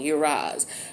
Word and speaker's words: Uruz: Excuse me, I was pronouncing it wrong. Uraz.